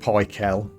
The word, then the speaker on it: Pikel: I know it's pronounced Pikel, but I prefer to say pickle.